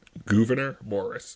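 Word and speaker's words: Gouverneur Morris: wait say that again gor Morris not Governor G okay I thought you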